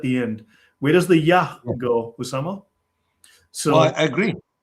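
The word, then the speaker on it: Iah: Yes, I-A-H. But if you consider, it would be pronounced something like Yah, right?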